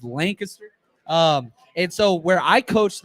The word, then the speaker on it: Lancaster: This dude grew up in Lancaster. California people say Lancaster. That's not how you say it in Texas. It's Lancaster.